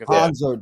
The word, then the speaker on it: Hanser: Hanser, there we go. Hanser Alberto. I'm so bad at pronouncing names.